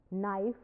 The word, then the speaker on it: knife: In 16th century, the letter K was sounded in no, now it is silent. No, knife, knowledge, etc.